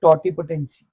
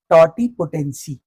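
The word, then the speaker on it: totipotency: ध्यान से प्रोनाउंस करना, व्हाट इज टॉटिपोटेंसी? टॉटिपोटेंसी, टॉटिपोटेंसी क्या होती है?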